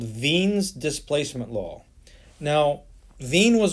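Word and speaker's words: Wien's: a german dude so the w in his name is actually pronounced the german way which means it's pronounced like an english v so this is veen's displacement law and the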